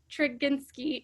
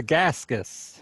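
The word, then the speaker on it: Tregaskis: incorrectly can you help me out it's not trigginski it's for gaskis her gaskets i always say it wrong thank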